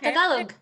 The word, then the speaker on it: Tagalog: Yeah, Tagalog.